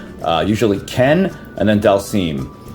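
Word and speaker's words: Dhalsim: usually Ken and then Del seem um some people say uh uh Dallas him or whatever but I just call him Del seem and I think he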